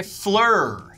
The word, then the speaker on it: Phlur: perfect fragrance from Fleur Fleur is like the French word for flower but it's spelled way way different pH L you are flora makes great